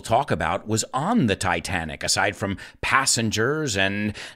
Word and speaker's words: Titanic: the titanic the rms titanic remember we don't pronounce it titanic in english it's titanic if you haven't noticed yet and what is